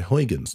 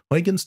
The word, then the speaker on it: Huygens: I am a Dutch speaker, so I know full well that the correct pronunciation is Huygens. But because the main language for my video is English, I follow the pronunciation that an English speaker would follow.